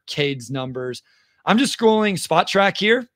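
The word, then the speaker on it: Spotrac: I said it right this time. So everybody that yelled at me and Wes on Twitter about saying it incorrectly, Spot Track. Thank you, Keith, for correcting me there.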